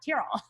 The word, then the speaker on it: Tyrell: got to remember that tyrol oh am i saying it right yeah terrible like you're tearing a piece of paper yeah yeah yeah cause